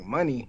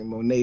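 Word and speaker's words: Moné: last name is it money she pronounced it like the currency like money but it it looks like Monet to me but she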